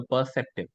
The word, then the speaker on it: perceptive: ignore it completely also perceptive perceptive right perceptive you can make it completely silent you can say perceptive okay yeah perceptive perceptive